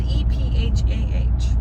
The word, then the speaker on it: ephah: Well, it's spelled E-P-H-A-H.